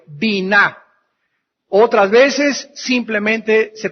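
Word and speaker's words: בינה: palabra intelcia en el hebreo es la palabra bina b grande y n a H bina otras veces simplemente se pronuncia en el hebreo Bin B yn inteligencia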